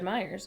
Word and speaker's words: Meyer: Pronounced the same as Meyer.